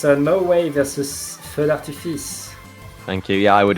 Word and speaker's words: Feu d'Artifice: Can you pronounce it, Pat? It's Norway versus Feu d'Artifice.